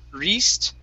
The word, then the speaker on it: wrist: Okay, this word here, we're going to use a short I sound. Instead of saying wrist, it's wrist. Wrist.